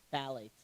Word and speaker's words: phthalates: The PH is silent. So there's probably another language that you could say that's PH, T. Oh my God. A-L-A-T-E-S. Thank So you. say phthalates. At PHTH.